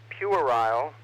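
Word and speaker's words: puerile: it's over the top pure isle using the uk pronunciation bright and colorful video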